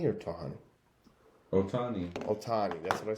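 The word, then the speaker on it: Ohtani: Ohani or Tahani? Otani.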